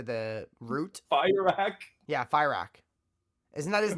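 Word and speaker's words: Fyrakk: Yeah, Fire Rack. Isn't that his name? Fire Rack, dude. Where do you people get this shit from? Well, They literally pronounce his name in the cinematics for Rock.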